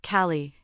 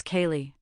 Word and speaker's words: Kaylee: It's not Callie, it's Kaylee. Oh, sorry, is there a difference?